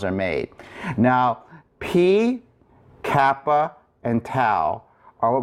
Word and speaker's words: π: So when you pronounce P, the letter P, or P, you'll notice that you pucker your lips together. So that P is, or the P sound, you'll notice that your lips come together.